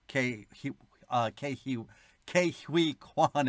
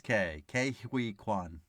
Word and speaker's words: Ke Huy Quan: Well, I'm so used to saying Ki, but I guess it's Ke Huy Quan.